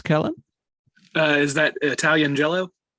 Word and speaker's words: giallo: at the airport back in the day actually pronounced G yellow uh also we just want you guys